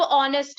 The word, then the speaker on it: honest: अब ऑनेस्ट है HONEST, बट ये साउंड करता है ओ के साथ।